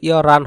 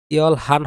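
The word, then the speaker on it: 열한: ইয়রান, এটার উচ্চারণ কিন্তু ইয়রান হবে, ইয়ল হান হবে না, কারণ এখানে একটা বাচ্চিমের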